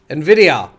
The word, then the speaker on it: Nvidia: than that we got a GTX 980 card Nvidia which is how you pronounce it by the way in case there was some misunderstanding from certain people uh Nvidia should give us the powers to do 16